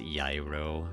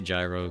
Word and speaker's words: gyro: Oh yeah, because it's pronounced Yairo, right? You don't pronounce the G. Yeah. Or Euro. Yeah, that's right. Euros. It's pronounced Euros. Yeah, I forgot. Yeah. I just say gyro because, you know, super American, whatever.